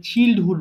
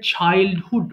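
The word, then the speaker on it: childhood: আর একটা জিনিস খেয়াল করো, এখানে একটা ওয়ার্ড আছে চাইল্ডহুড, এটা অনেকে ভুল করে চিল্ডহুড বলে ফেলে। উচ্চারণটা হবে চাইল্ডহুড, মানে ছোটবেলায়, শৈশবের কথাকে আমরা বলতে হলে আমরা চাইল্ডহুড ব্যবহার করব।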